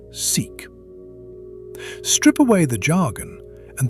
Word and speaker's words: SIC: The letters stand for Symmetric Informationally Complete Positive Operator Valued Measure, and physicists mercifully pronounce it "seek."